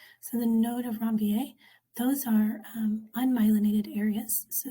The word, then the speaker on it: Ranvier: are called the node they're named after a guy who is french so it's pronounced ron va so the node of ranvier those are unmyelinated areas